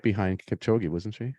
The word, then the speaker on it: Kipchoge: And even the men's winner, the all-star, how do you pronounce the name? I can never say it correctly. Kipchoge, yeah.